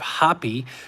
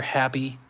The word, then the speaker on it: Hapi: You have Hapi, which is their primary god. It's Hapi or Happy, but it's spelled H-A-P-I.